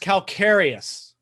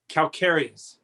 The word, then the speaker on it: calcareous: it's the only and i believe it's pronounced calcareous calcareous calcius calcareous yeah okay okay whatever yeah